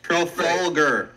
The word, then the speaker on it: Trafalgar: How do you pronounce the first name again? Trafalgar.